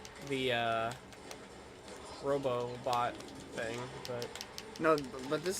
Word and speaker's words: Robobot: Because, like, in Planet Robobot, he, Just to let you know as well, I am pronouncing that correctly. There's an extra Yeah. BO.